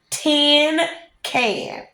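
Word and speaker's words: cinquain: jumped right up T can she shouted is pronounced 10 can she grinned real delighted I know it's 10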